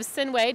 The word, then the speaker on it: Sinuhe: I have Sinuhe, did I pronounce that correctly?